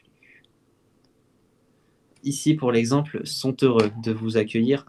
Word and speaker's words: sont heureux: Normalement le T, on est censé ne pas le prononcer. OK ? Du coup, on transforme d'un T qui est silencieux comme je l'ai écrit à un T qui se prononce son heureux.